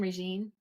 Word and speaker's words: Reene: So Reene, is that how you say your name? Reene? Yes, that's how you say it. Perfectly.